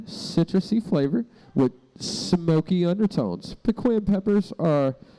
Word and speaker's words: pequin: Pequin. So pequin instead of penguin.